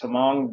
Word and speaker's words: Tamang: say it for me to main all right that's it's the most common pronunciation I mean that you're speaking Tagalog it's tamong but a little bit easier to convey exactly well thank you